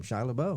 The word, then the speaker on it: LaBeouf: It's spelled that way. It's got an F, but it's Shia LaBeouf. The reason I know is because I've watched interviews with him, and he said his name, Shia LaBeouf.